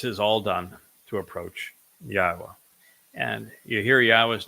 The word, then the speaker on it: Yahowah: reading from the book that introduced us to yahwah's name the book that told us how to pronounce yahwah's name the book that told us